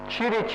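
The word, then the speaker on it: Ćirić: FM I mention here chich is this m this mathematician they pronounced chich I went in belgrad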